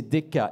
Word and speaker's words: DCK: Le lauréat est la société DCK. C'est Deka.